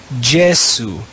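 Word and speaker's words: Iesu: letter we call j in church latin we would read this jesu jesu in classical latin it would be yesu but in church latin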